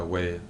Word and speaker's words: Wei: yeah probably we yeah whey like whey protein well I'm almost told